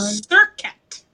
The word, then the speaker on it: Selket: We are going to embody and talk about the Egyptian goddess Selket, and it's pronounced different ways. Selket, or I think there's another Or one. Serket. Serket, Ser.